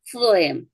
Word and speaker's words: phlegm: 그다음에 phlegm 그 발음 안 되죠.